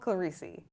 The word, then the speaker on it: Clerici: Claricei, did I pronounce that correctly?